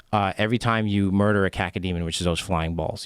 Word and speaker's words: cacodemon: What's the spell it? C-A-C cac-o. Oh, C-A-C-O. Don't you have kids? You have kids, right? I do. I have 3 kids. It's caca. You're saying caca demon. It's a poo-poo demon.